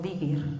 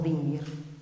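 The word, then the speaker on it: dingir: Samas, Dios del sol, pues ahí aparece lo que pronunciamos como digir o dinguir, Dios, pero también como estrella, mul.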